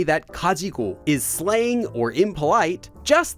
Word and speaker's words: 가지고: then left oh and one more thing Kaji is often pronounced in speech as kajiu just because it sounds easier to say so